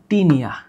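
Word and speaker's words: Taenia: এইটার উচ্চারণ করবা ফ্যাসিউলা, আর এইটার উচ্চারণ করবা টিনিয়া।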